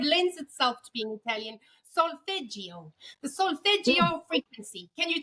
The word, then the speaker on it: solfeggio: Solfeggio, the solfeggio frequency.